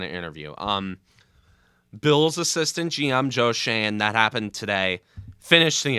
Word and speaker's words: Joe Schoen: It's Joe Shane.